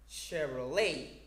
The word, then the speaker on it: Chevrolet: four or a chevrolet remember the correct pronunciation of the last word is chevrolet okay that's all for